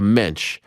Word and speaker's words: Mensch: Jewish person can give to another person a mensch I mean you are salt of the earth